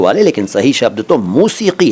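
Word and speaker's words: मौसिक़ी: आज का पहला शब्द है 'मौसिकी'। देखिए, उच्चारण पर विशेष ध्यान दीजिए। मैं 'मूसिकी' नहीं कह रहा हूँ।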